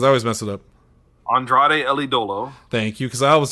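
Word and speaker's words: Andrade El Idolo: his name because i always mess it up andrade ellie dolo thank you because i was just going to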